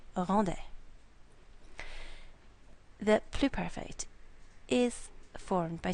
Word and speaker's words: rendait: This word, and this word are all pronounced the same, rendait.